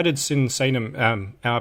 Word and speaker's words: Sinsaenum: I guess the first question I have would be how did Sinsaenum am I pronouncing that right? Sinsaenum? Yeah, Sinsaenum.